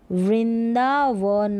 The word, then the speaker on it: वृंदावन: ये जो बिंदी है ना इसमें आधा न का उच्चारण होगा। वृंदा, वृंदावन, वन, वृंदावन, वृंदावन।